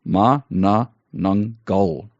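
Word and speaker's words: Manananggal: And the pronunciation guide that is in the beginning of the mystery, helpfully says it's Ma Na Nang Gul. So stress on the last syllable.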